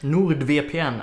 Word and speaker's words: NordVPN: to thank today's sponsor Nord VPN or no the VPN nerd via peein as it would be pronounced in Swedish not everyone knows this